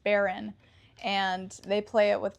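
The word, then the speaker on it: bodhrán: It doesn't look like it's pronounced like that, but I think it's pronounced Baron.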